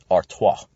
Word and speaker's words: Artois: Get your French-German pronunciation to get your Belgian pronunciations out there. Artois.